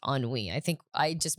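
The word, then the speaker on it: ennui: also a word cuz it is a French word it's not spelled how it's pronounced at all like not even a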